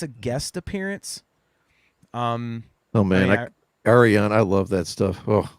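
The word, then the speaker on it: Ayreon: Oh man, Arion, I love that stuff. Oh, is that how you pronounce it, Arion?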